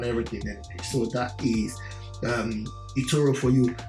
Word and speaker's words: eToro: big as well in europe um it's called etoro it people from aquarium in nigeria or calabar crusher but it's the same pronunciation so anytime i say this name i